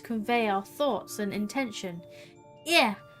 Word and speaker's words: Ea: When the vibration of vocal folds was still required to convey our thoughts and intention, ear, I believe, was the pronunciation used when referring to our people.